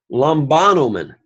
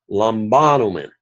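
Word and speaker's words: λαμβάνομεν: All right, notice that the accent is not on the fourth syllable because it never will have one. It is on the third syllable, and again, because it's a verb, it will go all the way back to the antepenult.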